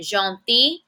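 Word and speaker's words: gentil: a may but a listen to that different pronunciation masculin jeti feminine jeti I have a Double L followed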